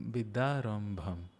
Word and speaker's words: Vidyarambham: Vidyarambham. Yes, that's how it would be pronounced in Bangla.